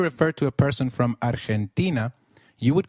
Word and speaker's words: Argentina: Argentina is pronounced as Argentina in Spanish g when followed by E or I is pronounced like a throat eh so try saying Argentina again Argentina excellent you may have